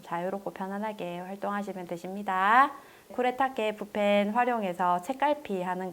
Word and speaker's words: 쿠레타케: 네, 제가 처음에 이제 강의할 때 쿠레타게라고 썼는데요. 이게 일본 발음이라서 제가 이제 헷갈렸는데 이제 쿠레타케라고 이제 검색하시면 되세요.